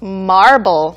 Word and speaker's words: marble: Marble. Marble입니다. V가 B로 바뀌면 대리석을 가리키고 여기에서는 marvel. Right. V 발음이죠.